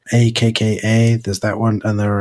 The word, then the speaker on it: Akka: systems because I know there's acha acha I pronounce it akka there's that one and